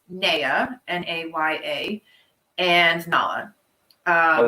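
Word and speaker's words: Naya: you pronounce amy's baby's names um so we pronounce neya n-a-y-a and nala uh oh that's a good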